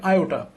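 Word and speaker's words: iota: আইথ আইফ আসলে এর উচ্চারণ হবে আইওটা আইওটা আইফ আয়টা আই সিক্স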